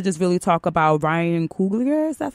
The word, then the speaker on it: Coogler: But with Black Panther, I also think we have to just really talk about Ryan Coogler. Is that how you yes, pronounce his Ryan name?